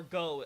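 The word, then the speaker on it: Gough: said to rival Hawkeye for go as its pronounced in the Japanese version but the localization pronounces it goth so I guess we'll go with goth anyway laughs are we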